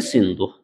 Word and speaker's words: सिंधु: नहीं कर पाते थे, तो सा का जो है जो प्रोनाउंस करते थे, जो उच्चारण करते थे, हा में करते थे। तो सिंधु को जो है हिंदू कहते थे, हिंदू।